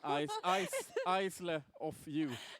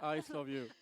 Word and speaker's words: Isle of You: Yeah, it's spelled not like I love you, which you could believe, but it's spelled. Am I gonna do the spelling now? Isle of you. Yeah. Isle of you.